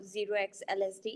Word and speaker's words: 0xLSD: uh the project n it's zero uh 0x LSD uh not o so apolog apology for